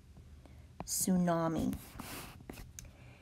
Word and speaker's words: tsunami: the pronunciation for this it is su naam e tsunami this is basically a